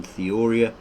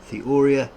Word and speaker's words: theoria: Here it's got Theoria, here it's got Theoria. I think it's a longer O, Theoria, which will probably be like an Italian accent on that.